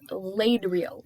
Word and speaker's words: Ladriel: pronounce that name yes it's laid real laid real l-a-d-r-i-e-l laird girl oh my gosh it's